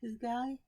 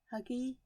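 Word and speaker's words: hygge: is it is it it's spelled h-u-g-g-e and i can't remember how you pronounce it who guy huggy huge hi gay it's that um scandinavian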